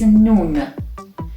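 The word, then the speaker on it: نون: The 29th letter is nun. Nun is pronounced n, like nest in English.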